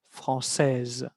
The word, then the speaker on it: françaises: Pero la ES no se pronuncia. En fin, elle est française. Escuchen bien la diferencia de pronunciación cuando es femenino. Elles sont françaises.